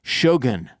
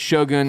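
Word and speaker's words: Shōgun: Next up, we'll be covering Shogun. That's how it's pronounced. Shogun? I say Shogun. Shogun? But that's wrong. That's just white people.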